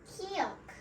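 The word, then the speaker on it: 기역: Now, let's let the native speaker pronounce it. Kiok.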